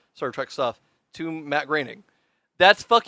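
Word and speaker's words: Groening: the reason why I grining yeah it's pronounced graining sorry you're um Matt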